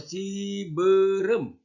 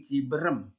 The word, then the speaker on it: Cibeureum: ini Emam Emam ya terakhir ini eh dengan U2 bacanya contoh Cibeureum jadi kamu sudah tahu sekarang nggak nyebut lagi ciberem ciberem Hai yaitu kesini perih